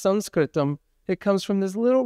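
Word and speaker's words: संस्कृतम्: Sanskritum. Sanskritum. This is probably a more accurate way of pronouncing the word that we usually say Sanskrit which sounds to a lot of people like writing in the sand.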